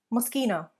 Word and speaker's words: Moschino: It is Moschino. Moschino. The SCHI in Italian is pronounced as a sk rather than a sh or ch sound.